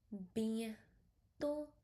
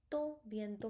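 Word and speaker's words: bientôt: B to O to because last T we don't have to pronounce. So it become bento bento means soon.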